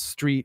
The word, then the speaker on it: street: 22 wicker street and notice that i pronounce street with no h everybody you're going to